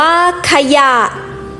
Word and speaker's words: ขยะ: รอ เรือ ลอลิง วอแหวน ให้ ออก เสียง เป็น สอง พยางค์ พยางค์ หน้า ให้ ทด สอบ เสียง คล้าย ประสม สระ อะ ครึ่ง เสียง พยางค์ หลัง ให้ อ่าน ออก เสียง วรรณยุกต์ ตาม เสียง อักษร สูง หรือ อ่าน เหมือน มี หอ นำ พยางค์ หลัง ฝึก อ่าน คำ อักษร